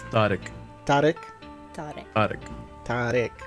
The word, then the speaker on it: Tariq: Tariq. See, I'm Like thought and Oh. then ick. Tariq. sorry about that, everybody. Sounds so. What was it? Not All right, Tariq.